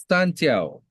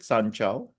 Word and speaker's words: Sanjiao: Santiao. Okay. Oh, wait, that's how you pronounce it, Sanchao? Yeah, in Chinese you pronounce the J as zi xiao.